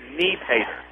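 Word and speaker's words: Niepoort: Kneepater is spelled N-I-E-P-O-O-T-E-R, pronounced Kneepater.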